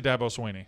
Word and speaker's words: Dabo Swinney: very First of all how do you say it properly? I say Dabo Swinney.